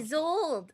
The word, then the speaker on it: Isolde: Isolde. That's how you say it.